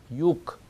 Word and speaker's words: юг: 남쪽 할 때도 그러지 않고 그가 K처럼 거기에 상응하는 무성자음으로 발음이 돼서 육 이렇게 됩니다.